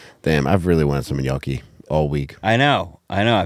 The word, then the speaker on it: gnocchi: Damn, I've really wanted some gnocchi all week.